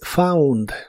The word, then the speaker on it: found: En el pasado es found. La combinación de las letras o U en inglés muchas veces se pronuncia como au, como en este caso found. Found.